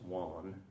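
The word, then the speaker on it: Wen: So as far as that next dynasty, then, This happened when King Wan, it's W-E-N, it's pronounced Wan, right?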